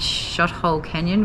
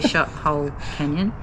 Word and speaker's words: Shothole Canyon: ex-mouth is amazing and shot hole canyon which we keep getting the name wrong but it is actually shot whole canyon i thought it was